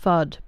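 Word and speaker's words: Fuud: It's F-U-U-D. So it's pronounced FUD, but it's spelt with 2 U's instead of 2 D's.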